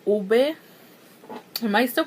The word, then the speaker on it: ube: I'm like on the last video I uploaded, and you guys were telling me that oob is not pronounced oob, it's pronounced like ube.